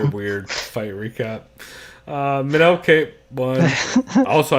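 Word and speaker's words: Kape: Minel Cape won. Also, I think his name is pronounced Cop, but I refuse because fuck pigs.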